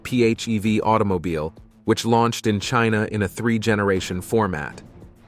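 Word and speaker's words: Qin: replaced by the byd chin pronounced chin plug-in hybrid which was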